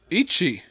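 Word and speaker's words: Ikki: We have Ichi. That's how they pronounce his name in the dub.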